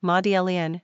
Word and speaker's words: Madeleine: three ranking popularity 278 pronunciation modelian French simple meaning Mary Magdalene